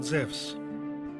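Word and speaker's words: Ζευς: westeros and the muses the names use is actually a wrong english translation because correctly he is called Zevs in the greek language ian you is pronounced like a w on the word wisdom the F's was the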